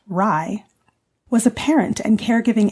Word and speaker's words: RIE: Magda Gerber, the creator of the Respectful Caregiving Approach Resources for Infant Educarers, commonly known as RIE, pronounced RIE, was a parent and caregiving educator, infant specialist, and author of the book Your Self-Confident Baby.